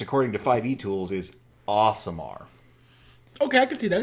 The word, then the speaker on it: Aasimar: podcast we were talking about so the official pronunciation at least according to 5e tools is awesome are okay I could see that it's two A's sure I've I've done a samar as in like a seer a celestial kind